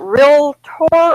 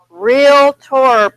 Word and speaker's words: realtor: it what is that what is it real Torah or real it tore real tour please say it correctly don't tell your you don't want to be you want the buyers would be smarter than you are so say real tour please visit me nuclear